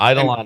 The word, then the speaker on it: Eidolon: Yeah, Eidolon is how everybody pronounces it when you go visit them in Canada.